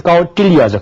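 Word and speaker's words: कौटिल्य: 그래서 이 점이 친 발음은 혀 끝을 입천장에 대서 소리를 내면 됩니다. 그래서 까우틸리아죠.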